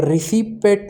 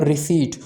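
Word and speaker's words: receipt: अच्छा, ये जो वर्ड है ना, इसको कैसे प्रोनाउंस करते हैं, रिसीपेट नहीं प्रोनाउंस करते, बल्कि इसमें पी साइलेंट होता है, इसको हम प्रोनाउंस करते हैं रिसीट।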